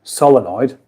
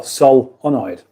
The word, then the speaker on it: solenoid: Gaz is asking um what is the correct way to say Sol oid is it solenoid solenoid or solonoid well I I know it's the first one which is which is why I just read it out reckon anybody else will